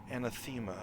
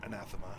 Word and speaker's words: anathema: As if there's something anthemma about it or anathema if you want to actually pronounce it right.